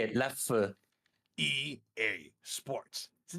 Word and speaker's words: Leffe: That's how you pronounce the E in Dutch. E. No. E. Now say it. Leffe.